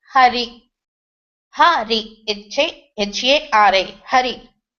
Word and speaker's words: Hari: If we were able to control the power pranashakti and throw a little bit air while pronouncing Hari, then it will come like H-A-R-A. If we couldn't throw the air, it will become Ari.